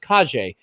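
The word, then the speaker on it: Calle: for her soap operas like hi i'm sasa kaje and then i found a second source and said it's pronounced kaje even though it sells looks like it says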